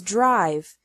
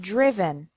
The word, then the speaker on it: driven: risen write wrote written notice that the sound of the I changes from the present to the past participle the present is drive and the past participle is not driv but driven subgroup three verbs ending